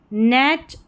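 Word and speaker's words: knit: देखिए नाइफ, नाइट, नी knock और यह निट है। इसको नाइट नहीं पढ़ेंगे। इसको निट पढ़ेंगे।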